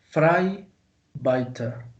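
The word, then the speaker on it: vrijbuiter: 15 y 6 pero en el holandés moderno investigue y se pronuncia fray bayter fray vaca frank es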